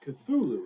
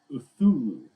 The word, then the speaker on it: Cthulhu: So And even Cthulhu is not pronounced Cthulhu. It's actually pronounced Uthulu. Like Cthulhu. Like you're not the way it's supposed to be said is not the way a human language can comprehend.